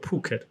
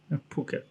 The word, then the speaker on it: Phuket: had the news that phuket um how the americans say it because it's about ph it's called phuket phuket they cancel the mask mandate so they can